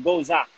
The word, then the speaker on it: Gose: aprender cómo a distinguir, no se dice ni Gose, ni la Gueuze dice Gouza, sino la Gueuze es Gueuze y la Gose es Gouza.